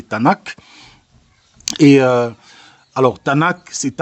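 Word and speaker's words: Tanakh: En français, ça peut se prononcer Tanac.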